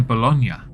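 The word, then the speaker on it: Bologna: saman abas an 18-year-old who is living near bolognia yes I know how to pronounce that correctly unlike in previous Halls V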